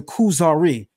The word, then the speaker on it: Kuzari: of the work is the kusari which is how you say Kazar in Hebrew and the work deals